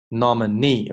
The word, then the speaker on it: nominee: Democrats 前面是 Democrat 这是 Democratic nominee 重音在这里 nominee OK nominee the fight for women